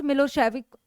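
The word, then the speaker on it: Milošević: A narrow minded SERB nationalist मिलोसेविक, pronounce मिलोसेविक, हैड वॉन the election.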